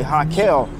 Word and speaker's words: Raquel: You know, English is the R is pronounced with a J, with a H in Portuguese. So her name is really Raquel, and she don't like to be called Raquel, so she goes by Kel.